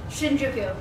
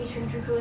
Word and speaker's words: Shinjuku: slide, and I suddenly cannot remember how to pronounce it. Shinjuku, there we go.